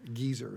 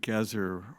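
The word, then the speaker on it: Gezer: Geyser. So, yeah. Um, Gazer is how I pronounce it.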